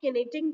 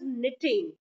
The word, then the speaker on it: knitting: That, yes, that is not knitting, that is knitting. The K is silent in that word.